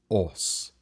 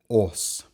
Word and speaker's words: Âs: going to talk about us that's right it is not us or US but rather OS and I will talk